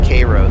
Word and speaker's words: Cairo: coming from the Mississippi north of Cairo I think they pronounce it Koo there and then um